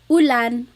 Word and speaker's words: ulan: So ulan, upuan, rain and chair, U. Not like under or umbrella. The letter U in Tagalog has an U sound.